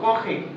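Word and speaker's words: compris: देखो यहाँ पे पी साइलेंट है और एम भी साइलेंट है, तो एम के बाद पी आ रहा, दोनों साइलेंट है और ब्रदर है कोखी, तो एम पी ओ एम पी, ठीक है। इससे साउंड हो जाता है नजल साउंड, ठीक है।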